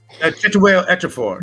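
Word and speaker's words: Chiwetel Ejiofor: Chituel Ejiofor. Chituel Ejiofor.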